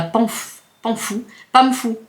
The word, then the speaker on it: Pamfou: Patana, c'est dans le 77, c'est à Pamfou. Alors ça s'écrit P-A-M-F-O-U. Pamfou.